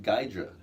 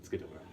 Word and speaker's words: Ghidorah: Sometimes people pronounce his name Gydra because he's like a Hydra.